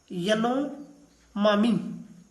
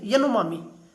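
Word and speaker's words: Yanomami: उस tribal group का नाम है देखो प्रोनाउंसिएशन में थोड़ा सा आप अपने हिसाब से देखिएगा, यनोमामी, इतना टिपिकल भी नहीं है, यनोमामी, ये वर्ल्ड फेमस ट्राइब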